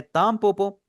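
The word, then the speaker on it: たんぽぽ: आपके सामने जब भी कोई ऐसा वर्ड आएगा जहां पर एन की आवाज एम में कन्वर्ट हो रही है जैसे यहां पे तो मैं आपको इंशाल्लाह खुद बता दूंगा कि आपने इसे किस तरह प्रोनाउंस करना है।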